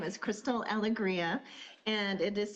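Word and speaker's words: Alegria: My name is Crystal Aliggria and it is spelled A L E G R I A.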